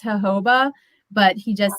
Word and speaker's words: jojoba: say that he knows he knows that it's pronounced jojoba but he just says jojoba i would just call it joe it says